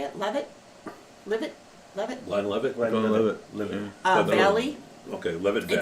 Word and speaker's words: Glenlivet: Glenlivet.